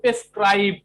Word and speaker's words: prescribe: এবার বলছে শুধু নির্দেশ দেওয়া, এটা হচ্ছে ভার্ব, তখন হবে প্রেসক্রাইব। 3 number, PRESCRIBE, প্রেসক্রাইব। আবারও বলতেছি উচ্চারণ, PRES, প্রেস, CRIBE, প্রেসক্রাইব।